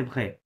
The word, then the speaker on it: vrai: আচ্ছা true vrai vrai আমি যদি বাংলাতে লিখি ট্রাই করি যদি এক্সাক্ট হবে না ভয়ের নিচে র ফলা প্লাস একার ওকে vrai ওকে হ্যাঁ vrai ওকে আচ্ছা লাস্টটা পড়েন তারপর হ্যাঁ ইল পাখলে হুম হুম।